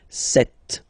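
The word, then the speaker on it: sept: Then here, remember, P is not pronounced. Okay, it doesn't exist, so you got this set sound.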